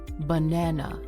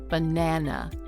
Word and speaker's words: banana: The other syllables are shorter, quieter, and reduced to a relaxed sound, like an uh. We call that a schwa. Banana. Banana. Hear the difference? So, when you combine all of those factors, the word becomes banana. And stressing that middle syllable, shortening the other two syllables, is critical because that's what creates the natural rhythm.